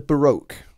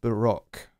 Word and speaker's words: Baroque: It's interesting, you American folks, you call it the Baroque period, when the term is a French term, Baroque. It's, you know, we kind of call it Baroque here. It's an interesting different pronunciation across the pond from here. Sometimes you guys are absolutely